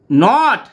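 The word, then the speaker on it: gnawed: সে কি করল সি নট চিবিয়ে নিল এই যে জি আছে জিটা সাইলেন্স হিসেবে উচ্চারণ হয়েছে নট হয়েছে এন এ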